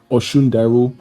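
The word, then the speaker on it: Osundairo: It's pronounced Obabinjo Ola, and the second name is pronounced Abimbola Ibel. Their surname is Oshundaru.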